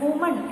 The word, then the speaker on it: woman: WOMAN എന്ന് പറയുന്നത് ഒരു സ്ത്രീയാണ്. വുമൺ എന്നാണ് അതിന്റെ പ്രൊനൗൺസിയേഷൻ. WOMEN എന്ന് പറഞ്ഞത് സ്ത്രീകൾ, പ്ലൂറലാണ്. അതിന്റെ പ്രൊനൗൺസിയേഷൻ വിമൻ എന്നാണ്. എഴുതുന്ന പോലെയല്ല ഇതിന്റെ ഈ വാക്കുകളുടെ ഉച്ചാരണം.